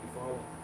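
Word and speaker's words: Eufaula: I think it's pronounced you follow.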